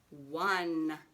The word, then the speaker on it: one: Here's a weirdo word. It sounds like it starts with a W sound, like a W, but it's 1. Number 1.